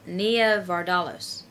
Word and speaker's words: Nia Vardalos: who I love uh near Nia vardalos like that's how you pronounce her name the lady from My